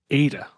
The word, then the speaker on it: AITA: Today I'm joined by a pop punk band from Baltimore, Ada. Welcome to the show. What up? Hey. Hey. Now, ADA is spelled AITA.